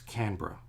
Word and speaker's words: Canberra: It's Canberra, but it's spelled Canberra. But we just put that all in one.